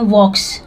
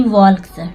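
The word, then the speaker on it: walks: इन देखिए यहां प जो वक है इसको हम पढ़ते हैं वॉक्स ना कि वल्स ठीक है वल्स नहीं पढ़ते हैं यहां पे एल साइलेंट वर्ड है इसलिए उसको पढ़ते हैं वक्स वक्स मतलब चलना इन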